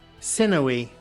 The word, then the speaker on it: sinewy: Well, I mean, like, I've seen it through reading, but I've never fully, like, understood the pronunciation of it. Sinewy.